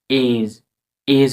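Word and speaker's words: edge: যখন ডি এর পরে জি থাকে এবং পরে ই আই ওয়াই আসে এই তিনটি ভয়েস লেটার আসে তখন ডি পড়া হয় না। শুধু যে উচ্চারণ হয়। শুধু জি উচ্চারণ হয়।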